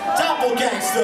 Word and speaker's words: Dopplegangsta: It's Dopplegangsta with an A, not an E-R-W-U-T-K. Y'all give it up, guys. Give it up. Dopplegangsta. Pronounce that shit right. Dopplegangsta.